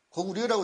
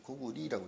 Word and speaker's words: 고구려: 고구려라고 읽으면 안 되죠. 고구리라고 읽어야죠.